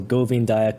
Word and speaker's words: Govindaya: So Govindaya could be pronounced Govindaya, kind of VW together.